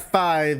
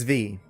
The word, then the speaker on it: V: It's not 5, it's V.